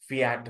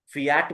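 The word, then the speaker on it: fiat: हाँ, फ्लैट आई है ये, फियाट मनी। हाँ, फियाट मनी कुछ लोग बोलते हैं, या तो फायट मनी कुछ लोग बोलते हैं, दोनों ही सही है।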